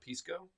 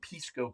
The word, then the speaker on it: Pisco: us uh from South America a bottle of Pisco am I saying it right it's Pisco right Pisco yeah Pisco Pisco yeah not Pisco